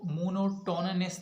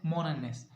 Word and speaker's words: monotonous: इसको मोनोटोनस नहीं पढ़ते हैं, इसको पढ़ते हैं मोनोनस, क्योंकि इसका टी जो है वो साइलेंट रहता है.